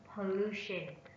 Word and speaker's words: pollution: on the fourth syllable pollution pollution pollution step on the second syllable contaminated contaminated contaminated step